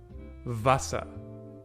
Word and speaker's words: Wasser: And the W. V. Wasser, which means water.